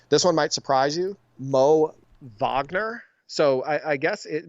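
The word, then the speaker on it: Moritz Wagner: 100% every game this one might surprise you Mo Vagner so I I guess it mortiz Wagner is the way it's spelled but it's his name is pronounced moitz Vagner for the or magic they ISO him a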